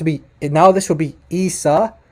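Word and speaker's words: عيسى: Esa not or Isa listen carefully to the pronunciation it would have to be now this will be Isa Isa and and it's not Risa listen to that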